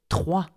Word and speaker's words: trois: So if you want to pronounce 3 properly, pronounce it T, R, WA, with a WA sound.